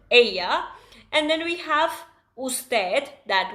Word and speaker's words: ella: It is not Ella guys. Make sure that we pronounce it right. What is it? Aya.